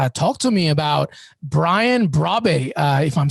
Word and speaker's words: Brobbey: Talk to me about Brian Brobbey, if I'm saying it correctly. What a talent, apparently. Brian Brobbey, yes, great striker.